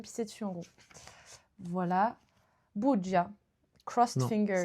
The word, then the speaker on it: bugia: Bugia. Crossed Non, fingers. ça se prononce bugia.